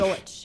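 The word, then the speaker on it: Golesh: How do you say his last name? Golich.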